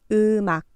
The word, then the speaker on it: 음악: 이제 앞 글자의 받침 미음이 이응 자리에 와서 발음됩니다. 음악, 음악. 악이라는 글자는 앞 글자의 받침 미음이 이응 자리로 와서 음악으로 발음합니다.